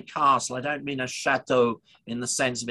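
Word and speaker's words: château: it's a real castle difference between our chateau or chateau as the old way of pronouncing it is because as you know the circumflex accent means that there's an s missing castell originally you see so it is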